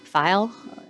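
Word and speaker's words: Feil: File. It's as in Frank, E-I-L, File, rhymes with smile.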